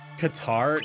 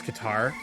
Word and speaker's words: Qatar: like a good tiramisu powder is how you properly pronounce Qatar wait really uh well I